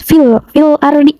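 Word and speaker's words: فِي الْأَرْضِ: Harus dibacanya itu alif lam dibaca jelas, fil ardi. Nah, huruf filnya ini dibaca dengan jelas. Terus huruf ro-nya ini dibaca dengan tebal atau takhim. Jadi seperti ini. Fil ardi. Nah, dibacanya tebal.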